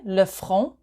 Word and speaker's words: le front: To the right-hand side of the slide, we have the forehead, le front. So you don't pronounce the T. Le front.